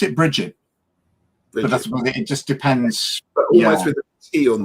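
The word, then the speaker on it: Brigid: it almost like a it's got a soft G on the end yeah um and Peter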